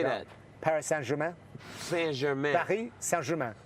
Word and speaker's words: Paris Saint-Germain: Paris Saint-Germain. Saint-Germain. Paris Saint-Germain. Paris Saint-Germain.